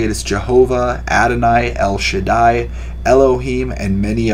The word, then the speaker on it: Jehovah: is pronounced as yahweh or yahawah yhvh is pronounced as jehovah or jehovah depending on the person speaking or